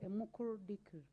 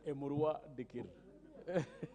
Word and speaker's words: Emurua Dikir: So it is your chance, Honorable Member for Emukuru Dikri. Madam Speaker, my constituency is called Emurua Dikir. I know it's a very hard name to pronounce, but Madam Speaker, thank